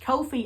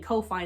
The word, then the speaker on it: Ko-fi: It's pronounced Ko-Fi actually, but I really don't care because I've been saying Ko-Fi so much by this point, it's just stuck in my brain.